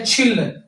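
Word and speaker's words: 칠: साथ में ये छी लग गया। इसकी छह आवाज़ आएगी इसकी। बन गया छी। नीचे रियल की लाम। तीसरी लाम। तीसरी आवाज लाम आई। बन गया छिल।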